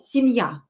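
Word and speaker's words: семья: this is the stress the stress is on ya uh don't forget to practice with me out loud and try to imitate to copy my pronunciation so sim ya ya is stressed if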